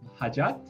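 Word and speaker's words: hajat: immensely difficult next one we have hajjat which because in the later j is pronounced in the just sound so means desire or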